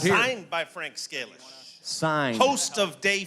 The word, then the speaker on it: Scalish: Scalish.